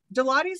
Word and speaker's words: Deloitte: Fred supports Deloitte's.